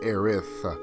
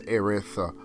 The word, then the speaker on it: Aerith: other iterations of the game her name is pronounced erith and reason why that is because in the goblins language there is no matter her actual name is erith but and japanese language there's no there's no